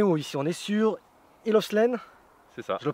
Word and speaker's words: Hill of Slane: On est sur Hill of Slane, C'est ça, je le prononce bien?